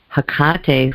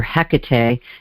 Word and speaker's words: Hecate: And Hecate, who I work with, or Hecate, depending on how you want to pronounce her, is represented by the sign Scorpio.